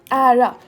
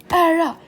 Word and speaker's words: ära: this all the time not honor but era era era to be fair I'm not Swedish I'm half